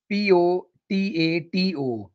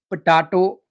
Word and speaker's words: potato: the king of vegetables p-o-t-a-t-o it's not potato it's potato potato potato the stress is on the second syllable it's an all-purpose vegetable